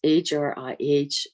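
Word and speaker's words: Hrih: It's H-R-I-H, has a little aspiration to it. Hri, you almost breathe through it.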